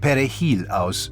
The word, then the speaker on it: perejil: Dominicans pronounce it perejil, with a trilled Spanish "r." The primary Haitian language, however, is Kreyol, which doesn’t use a trilled r.